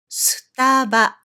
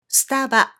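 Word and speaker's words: スタバ: But since then, they have come up with the shorter version of the name by picking up these 3 syllables, and they call it Staba. Staba.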